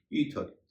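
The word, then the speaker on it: ether: ब्रीदर, यहां पर भी एक एक्सेप्शन है, ईथर। ईथर एक तरह का रसायन होता है और ईथर में टीएच के बाद ई आर है, लेकिन उसका उच्चारण हो रहा है थ।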